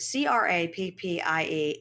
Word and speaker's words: crappie: right M and you guys do know that c r a p p i e is pronounced crappie it's a type it's a type